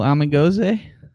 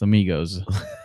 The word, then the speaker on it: amigos: Little amigoze. That's not how it's pronounced. Amigos.